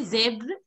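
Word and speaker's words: zèbre: in this word, that you are pronouncing it as zebro. It is not zebro. It is zebr.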